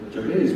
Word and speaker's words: Jabez: So Jabez was, and I pronounce Jabez, you can pronounce it whichever way you like.